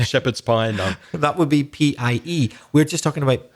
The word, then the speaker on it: pi: pineapple that would be p i e we're just talking about p i which we pronounce pie but i think in spanish you say p but we say pi it would be 22